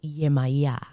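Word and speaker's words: Yemọja: In English, I have heard this to also be said yemaya. Like it kind of yemaya. Spanish is easy. Yemaja. I've also heard it pronounced yemaya or yemaya, but you can tell yemaya.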